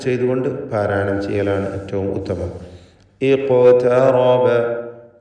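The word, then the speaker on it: اقترب: ഇഖ്തറബ. ഖാഫിൻ്റെ സുക്കൂൻ ഖൽഖല സുഗ്റ നൽകി ശബ്ദം ഹറക്കത്ത് പോലെ ചലിപ്പിച്ചുകൊണ്ട് ഉച്ചരിക്കേണ്ടതാണ്. ഖാഫിന് തഫ്ഖീം കൊടുക്കുകയും വേണം. ഇഖ്തറബ. താഇന് തഫ്ഖീം വരരുത്. ഇഖ്ത എന്നായി പോയത്. ഇഖ്തറബ. റാഇനും തഫ്ഖീം വേണം.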